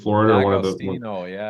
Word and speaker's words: D'Agostino: It's the guy's popular on Twitter, Dom Agostino, I think, from University of Florida, or one of the D'Agostino, yeah. D'Agostino, yeah.